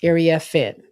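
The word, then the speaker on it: Iriafen: And since she made this transition to USC, she wants her name to be pronounced right. And that's what it is. Area Finn.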